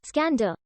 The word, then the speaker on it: Iskander: It is suggested that the name Kandahar evolved from Iskander, pronounced as Skander, in the local dialect version of the name Alexander.